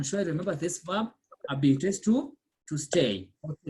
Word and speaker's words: habiter: For example, the verb habiter, I'm sure you remember this verb, habiter is to stay or to live. So we say again, J apostrophe. So we say j'habite because the H is silent.